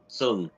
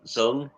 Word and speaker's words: Xuân: When I see that name, the X in your name, the first letter of your name is pronounced more like an S. Your name, Xuân, Miss Xuân.